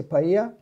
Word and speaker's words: paella: by like serious but Spanish people never pronounced L they just say Spanish or Cubans they say paella it is they use